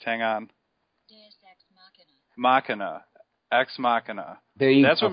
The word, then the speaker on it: Ex Machina: So I had to go to the Merriam-Webster website and listen to it pronounced. Hang on. Machina. Ex Machina.